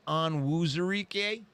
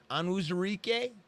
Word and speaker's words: Onwuzurike: Oh, I thought it might be pronounced Onwuzurike. Onwuzurike.